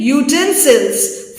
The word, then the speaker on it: utensils: He has brave utensils, fine equipment, either magical or household. The word is stressed on the first syllable.